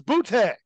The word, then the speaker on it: Boutte: The New England Patriots wide receiver, Kayshawn, how do you pronounce this? Butt was arrested last week over allegations of illegal sports betting while he played at LSU. Louisiana State Police said the charges against, it's Boutte. Yes, it's Boutte.